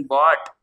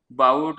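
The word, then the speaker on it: bought: shop bye त्याच प्रशन बॉट काही पण प्रोनन्स करायचं नाहीय काय बाऊट वगैरे ना म्हणायचं बॉट बॉट बाई आणि बाय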